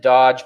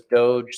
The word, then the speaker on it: doge: would do doge and i pronounced it dodge but then my brother said it was doge so i believe him